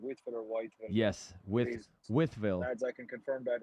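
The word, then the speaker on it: Wytheville: withv Virginia on Thursday is that how you pronounce that withv yes withv okay withv yes not not weville okay I was wondering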